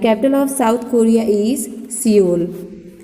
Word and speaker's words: Seoul: Which is साउथ Korea and the capital of साउथ Korea is सियोल. देखिए spelling is something different. सियोल, SEOUL, Seoul.